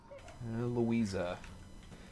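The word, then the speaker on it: Luiza: Louisa. That's how you pronounce the name.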